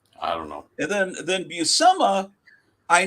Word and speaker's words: Buscema: And then Buscema, I now am confident in saying Buscema because I watched his daughter on Instagram live the other day, and she says, "Hi, I'm Steph Buscema." Okay, that must be how it's pronounced.